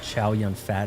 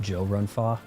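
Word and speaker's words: 周潤發: You guys think of him as Chow Yun Fat. It's actually pronounced Joe Run Fa.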